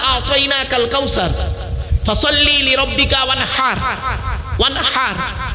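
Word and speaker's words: وانحر: ওয়ানহার এই গলার ভেতর থেকে হেটা উচ্চারণ করবেন, ফাসাল্লি লিরাব্বিকা ওয়ানহার।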